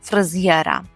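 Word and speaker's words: fryzjera: відповідно скажемо Бич у фризєра Бич у фризєра Бич у фризєра Зверніть увагу на вимову фризєра так ніби після з апостроф є і ми так роздільно вимовляємо зєра бить у фризєра і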